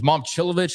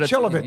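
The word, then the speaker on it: Momčilović: Is Mom Chilivovich, is that how you say it? Chilovich.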